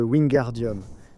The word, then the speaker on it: Wingardium: Mais en réalité, ce qu'il prononce mal dans le livre, c'est le gare de Wingardium. Alors, Hermion lui dit "Le gare est long et prononcé."